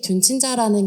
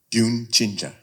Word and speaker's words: 듄친자: 한국에는 듄 팬층인 듄친자라는 게 있는데 그 존재를 아는지 너무 궁금하고요. 그리고 한국에서 듄에 열광하는 이유가 뭐라고 생각하시는지 궁금합니다. 듄친자.